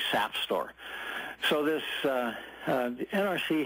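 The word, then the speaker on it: SAFSTOR: regulations and it's uh the NRC calls it safe store s St o r AE but if you really pronounce it the way your third grade English teacher told you it's really sap store so this uh uh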